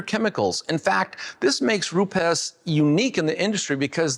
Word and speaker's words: Rupes: When you hear the word Rupes, and by the way, that is the correct way to pronounce the name, the first thing that comes